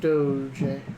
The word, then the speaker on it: Doge: one was That is the correct pronunciation of it. Doge.